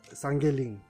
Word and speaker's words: Sangeyling: इसका प्रोनाउंसिएशन सांगेलिंग करके करता है। तो हमारे यहाँ का लोकल लोग तो प्रोनाउंसिएशन थोड़ा सा गड़बड़ होने की वजह से वो लोग इसको सांगेलिंग बोलते हैं। तो एग्जैक्टली तो इसका सांगेलिंग है, सांगेलिंग करके हमको प्रोनाउंस करना चाहिए।